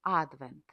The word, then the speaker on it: advent: Цю історію варто почати саме з назви advent. Наголос на першій букві від латинського адвентус.